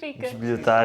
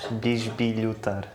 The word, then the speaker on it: bisbilhotar: "Bisbilhotar" is like... to snoop. Oh ok! "Bisbilhotar". "Bisbilhotar". So? Are you snooping around? Yeah... But the first "i" is not pronounced.